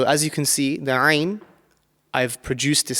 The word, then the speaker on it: Ain: One thing to bear in mind when we're pronouncing this Ain, it's one of the throat letters and it should come from the middle part of your throat.